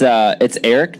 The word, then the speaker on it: Aric: So it's Aric, just like with an E, but it's spelled with an A, and it's Almirola.